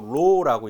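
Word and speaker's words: ρ: 고유 저항이라고 하고, 이거는 그리스 문자로 이렇게 쓰고 로라고 읽습니다. 로 읽을 때 이렇게 읽습니다. 로.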